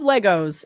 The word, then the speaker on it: Lego: It's not Legos. It's Lego. It's a trademark.